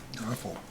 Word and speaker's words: offal: 3, no refuse, garbage, rubbish, offal, is that how you pronounce it? O-F-F-A-L? Awful.